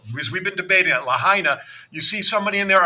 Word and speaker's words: Lahaina: Is it pronounced Lahaina or Lahaina? Lahaina. All right. Because we've been debating it. Lahaina.